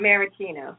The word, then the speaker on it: maraschino: there, those are called what is how you pronounce it? Maraschino.